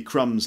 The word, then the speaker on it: crumb: and there might be crumbs left on the plate or on the table or something crumb with silent B for example why are